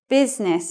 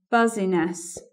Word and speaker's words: business: in the list here business is that word but sometimes people are confused by the I in there and if you're the